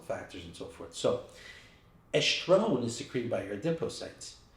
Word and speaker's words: estrone: It should be called estrogens because you have estrone, estradiol, estriol, right? So estrone, and it's kind of easy to remember. Just think estrone, one, sounds like one. Oh, actually spelled the same way, O-N-E, but estrone, right?